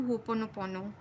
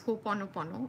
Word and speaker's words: Ho'oponopono: First of all, do Ho'oponopono. I like calling it Ho'oponopo, okay, but that's the incorrect pronunciation, but it sounds cuter. I've always called it Ho'oponopo, but the correct pronunciation is Ho'oponopono, okay?